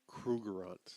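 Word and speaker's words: Krugerrand: Krugerants.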